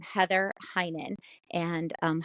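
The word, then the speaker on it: Hynen: code and you just enter my name Heather Heinen and um hinan is spelled h y NE n it's all one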